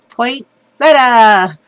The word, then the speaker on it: Poinsettia: I said it right, Carol, Poinsettia.